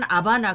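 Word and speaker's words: La Habana: 영어 로 는 하바나라 고 발음 하지만 , 스페인어로는 라 하바나라 고 부릅니다 .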